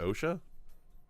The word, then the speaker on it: OSHA: But you pronounce it OSHA?